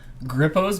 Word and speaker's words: Grippo's: i like that name i said it right now grippo's like is that like a hippo you i'm going to